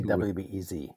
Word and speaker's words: WBEZ: How do you pronounce that when you do the show? Do you have to say WBEZ? I say WBEZ, yeah.